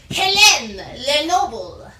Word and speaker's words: Hélène Lenoble: She pronounces her name Hélène Lenoble. There is, like, accents in there. There is an accent over one of the E's, so I probably nailed it in pronunciation.